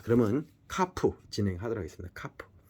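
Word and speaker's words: כף: 키읔 발음이고 카프.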